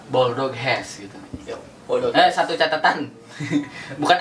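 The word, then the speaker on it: Boldog Ház: Pelafalannya Bulldog Hes gitu.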